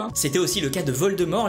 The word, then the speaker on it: Voldemort: C’était aussi le cas de Voldemort, les anglais avaient tendance à prononcer le t Voldemort ! Alors qu’il ne faut pas !